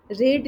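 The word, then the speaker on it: read: रीड के आपका spellings वही रहता है, प्रोनाउंसिएशन चेंज हो जाता है। रीड, रेड रेड कहते हैं ना।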